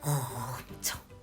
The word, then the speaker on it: 엄청: So I added that throat clearing sound when pronouncing 엄청, like 엄청. Right. When you emphasize some words, you add the sound to the middle of the pronunciation.